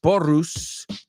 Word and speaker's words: porros: So she says, in Catalan, porros, pronounced porrus, are puerros.